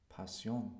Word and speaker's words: pasión: Pasión. Pasión. Passion. Good, and you pronounce the S, because we don't write sh.